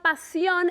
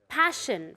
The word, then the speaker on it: passion: The two S's together make an SH sound, okay? It's not pasión, it's passion fruit, okay?